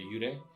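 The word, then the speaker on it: 幽霊: They call them yurei, which Yurei? means faint. Yurei, Okay. which is spelled Y with a U and a little line over it, R-E-I.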